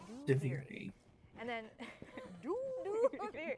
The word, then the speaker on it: Duviri: Duviri out loud is that's how you pronounce it, by the way. Deviri.